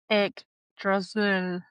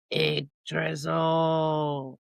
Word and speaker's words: Yggdrasil: The Norns, not nuns, Norns, lived beside the roots of another word I can't pronounce. Agadrezel? Yggdrasil. Yggdrasil.